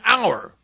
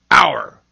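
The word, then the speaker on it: hour: At the beginning of some words, H is seen but not heard, as in our. H-O-U-R, our.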